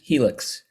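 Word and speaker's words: Healx: um next up we've got bruce bloom from heal x i'm assuming that's how we pronounce the name of the company but bruce welcome thanks yes helix uh originally the the word is sort of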